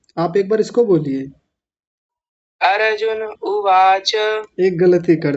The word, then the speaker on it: अर्जुन: इन्होंने र को पूरा र बोल दिया था। हाँ बहुत सुंदर, बहुत बढ़िया। विनायक जी आपने बोला अर्जुन, अर्जुन, अर्जुन। आपने ऐसा बोला अर्जुन, जबकि क्या है अर्जुन। अर र को आधा कीजिए, जैसा है वो वैसा ही कीजिए।